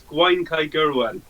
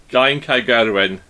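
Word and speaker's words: Gwaun-Cae-Gurwen: Oh my God, I would not pronounce that. Whatever it. Well, I'll say it. It's Gwaun Kai Gyrwen. There you go. Gwaun Kai Gyrwen.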